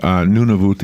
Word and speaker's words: Nunavut: none of that or Nunavut Eddie pronounce that word have no clue it is a book he wrote it's called nuna booth nu n AV UT it's an Arctic thriller